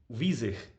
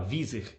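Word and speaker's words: Wieser: que é o friedric vizer acho que é assim que se fala vizer é que é uma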